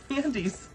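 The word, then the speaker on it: Andes: Look at those, we got Andy's mint chocolates. I love these. Oh, Andy's? Yeah, Andy's. It's spelled a little different, but that's how it's said, just like you.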